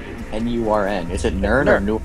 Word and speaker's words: Nurn: Like, how do you pronounce N-U-R-N?